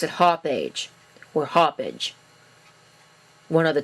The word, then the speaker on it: Hauppauge: The correct way to pronounce this company's name is Hauppauge, but I frankly think that that's kind of stupid. So I'm going to pronounce it Hauppauge, or Hauppauge.